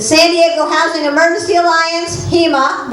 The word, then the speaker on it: HEMA: The San Diego Housing Emergency Alliance, HEMA, which rhymes with FEMA, by the way, that's purposeful, is dedicated to building such a movement, and I hope everyone here will join us.